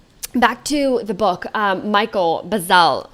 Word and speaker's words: Bazzell: So back to the book, Michael Bazzell, right? Is that how you pronounce his name?